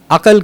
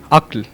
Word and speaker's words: عقل: سے بہت سارے لوگ عقل کہہ رہے تھے، جبکہ صحیح لفظ ہے عقل۔ اسی طرح جنید بھائی